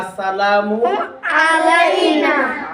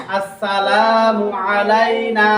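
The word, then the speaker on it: السلام علينا: আসসালামু আলাইনা। আলাইনা নুনের মধ্যে টান হবে, নুনের মধ্যে কি হবে? টান হবে। আসসালামু আলাইনা ওয়া আলা ইবাদিল্লাহিস সালিহিন।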